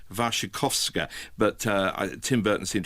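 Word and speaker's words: Wasikowska: history well may have I'm told it's pronounced vashikovska but uh Tim Burton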